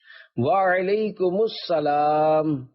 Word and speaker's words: وعلیکم السلام: جواب سناتا ہوں، پھر آپ اس کو دہرائیے۔ وعلیکم السلام، رضائے حق کے لیے تم سلام عام کرو،